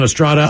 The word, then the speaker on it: Estrada: Last name Estrada is Eric Estrada. Emphasis on D.